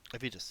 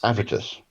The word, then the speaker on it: Avitus: You're overemphasizing the V. Avitus. Avitus.